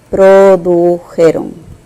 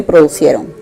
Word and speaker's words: produjeron: Produjeron. No se dice producieron. Producieron no se dice, ¿correcto? Se dice produjeron.